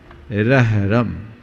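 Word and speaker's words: र्ह्रं: तो इसका उच्चारण है रहरम। रहरम, रेफ पहले यानी आधा र, फिर आधा ह और अंत का पूरा र पे बिंदु।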